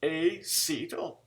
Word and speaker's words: acetyl: i want a seat phonetically a it's it's acetyl ac il acetyl okay so the acetyl